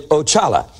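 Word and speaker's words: Oxalá: first one there is ochala now i i had to give you the brazilian pronunciation of those otherwise you wouldn't be able to pronounce them like they do down there ochala and he is the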